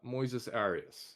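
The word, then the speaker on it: Moisés Arias: name oh my God Moises Moes ARA I think is I think that's how you say it you're close uh Moises Aras yeah yeah um he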